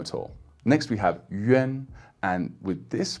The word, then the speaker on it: 远: So this yuan sound will be spelled Y-U-A-N, and I suppose the most common word with this pronunciation is with a third tone, yuan, yuan, which means far away.